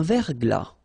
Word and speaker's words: verglas: une rosée, un verglas, un ciel clair, un ciel couvert, un ciel nuageux, une bruine. So let's see them. Une rosée, final E not pronounced. Un verglas, final S not pronounced.